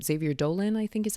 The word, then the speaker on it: Xavier Dolan: Xavier Dolan, I think is how you say his last name.